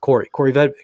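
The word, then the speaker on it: Kaare Vedvik: Spelled Kari, pronounced Corey Vedvik.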